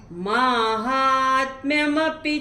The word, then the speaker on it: माहात्म्यमपि: जब आप शुरू में पढ़ेंगे तो हम लोग की महात्मा बोलने की आदत है, महात्मा गांधी बोलते हैं, लेकिन यहाँ पे म नहीं है, यहाँ पे माँ है, इसका ध्यान रखिएगा।